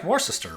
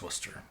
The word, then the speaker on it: Worcester: of these towns, like this looks like Warsister, right? Or something. Um, but it's Worcester.